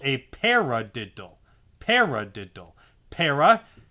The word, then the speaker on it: para: hand is where a para is. Para. Para. When you say the word para, you're accenting the first syllable and saying the second syllable normal.